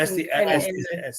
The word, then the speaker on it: Estes: Yeah, Estee. Estee Park. Estee. We got corrected Estee. when we went Not- to Colorado. Not rhymes with testy.